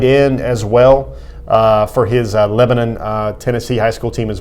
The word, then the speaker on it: Lebanon: to the next level can I congratulate you on the correct pronunciation of Lebanon you know if you're a citizen of the world you say Lebanon if you're son of the